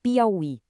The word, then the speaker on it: Piauí: Olha só a diferença em palavras como Piauí. Aqui, o I forte está na última sílaba, é uma oxítona. E por isso, o acento continua lá, firme e forte.